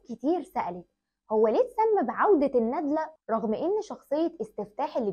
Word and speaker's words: الندلة: المشاهد واقول لك ان طول عمرنا لسبب غير معروف بننطق اسم الفيلم خلاص والنطق الحقيقي ليه هو عوده الندله يعني فتح الدال واللام مش النادله يعني السكون الدال كانك يعني بتجمع كلمه